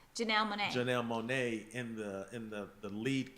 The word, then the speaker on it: Janelle Monáe: You know, but you're putting, how you pronounce her name? Janelle Monáe.